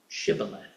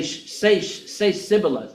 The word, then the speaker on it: shibboleth: Now, as it say Sibboleth, and they were going Shibboleth.